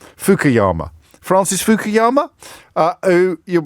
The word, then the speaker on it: Fukuyama: mispronounce his name now Francis fukayama pardon fukuyama Francis fukuyama uh who